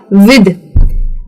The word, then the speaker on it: with: तो ये जो वर्ड है WITH, कई लोग इसको प्रोनाउंस करते हैं विथ, यानी कि सॉफ्ट टीएच के साथ। गलत है, सॉफ्ट टीएच के साथ नहीं, इसे हार्ड के साथ प्रोनाउंस करना होता है, यानी कि ये हो जाता है विद। विद, तो जी ये जो टीएच है ये द का साउंड ले लेता है, विद।